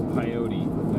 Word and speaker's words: Pyote: Headed towards Pyote, if that's how you say it.